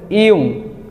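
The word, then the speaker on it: 이응: এটাকে কোরিয়ানরা বলে ইয়ুং। ইয়ুং ইয়ুং, এটার কোনো মূল উচ্চারণ নেই, কিন্তু এটার বাচ্চিমের উচ্চারণ আছে।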